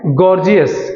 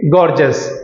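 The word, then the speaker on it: gorgeous: जैसे बहुत सारे बच्चे इसे बोलते हैं गॉर्जियस, क्या बोलते हैं गॉर्जियस, तो मैंने पीछे ही बताया हम इसे गॉर्जियस नहीं बोलेंगे, हम क्या बोलेंगे गॉर्जस।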